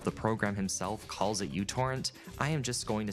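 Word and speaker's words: µTorrent: or technically microtorrrent or mutorrrent the name of the letter in the Greek alphabet but because this letter at the beginning of the word resembles a u people just started calling it that.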